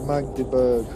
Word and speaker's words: Magdeburg: That's it, Magdeburg. Cheers mate for pulling it in, letting her pronounce it.